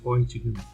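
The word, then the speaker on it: Röntgen: Mas a pronúncia em português aí é Johann Conrad Roentgen.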